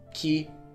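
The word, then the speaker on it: き: We pronounce these syllables the same way, but we put a ka, a K in front.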